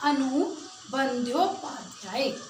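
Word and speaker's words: अनु बंद्योपाध्याय: हो जाता है, तो इसके अंदर द और य के मिश्रण से इसको बना है। तो यहाँ पर इसका नाम बनेगा, इसका जो क्लियर जो राइट सही इसका प्रोनाउंसिएशन होगा वो होगा अनु बंध्योपाध्याय।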